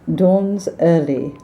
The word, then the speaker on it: Donzerly: And Americans tend to pronounce Donzerly as if it's one word. Donzerly. What kind of light is it? Donzerly.